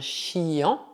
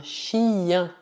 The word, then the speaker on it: chien: Por exemplo, não dizemos un chien, mas sim un chien, un chien, cachorro.